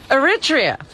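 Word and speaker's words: Eritrea: How do you pronounce that country? Robin Aritria.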